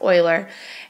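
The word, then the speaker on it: Euler: major one is covering this specific mathematician Leonard Oiler yes it is pronounced Oiler and he lived back in the 1700s and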